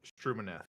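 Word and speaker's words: Stumineth: name one more time sir Roland sir Roland strum manth strum manth is spelled s t u m i n e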